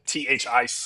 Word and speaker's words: Thaiss: It is Thaiss. I was just about to say that too. Yeah, Thice is pronunciation there. So now we know.